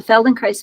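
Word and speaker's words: Feldenkrais: k r a i s so it's the Feldon Christ method um he he developed a method um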